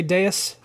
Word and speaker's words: Deus: Say it right. Say Deus. Delays? What? No, say his name right. You said Deuce. His name is Deus.